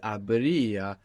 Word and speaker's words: habría: we have, which is habría, happens so naturally because that E kind of falls out.